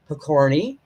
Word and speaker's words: Pokorny: how to pronounce it it is pokorny the corny it's bohemian or as you would